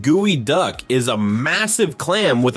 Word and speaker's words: geoduck: The geoduck, pronounced gooey duck, is a massive clam with a super questionable shape.